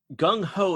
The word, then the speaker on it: Gung Ho: Now, Gung Ho is an English term rhyming with slung low with the current meaning of enthusiastic or overzealous.